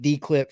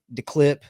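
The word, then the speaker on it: D'Clip: start saying it right we said dclip for a long time spitting in our poor friend hans's face owner over at declip we're sorry it is declip de apostrophe clip obviously the clip so uh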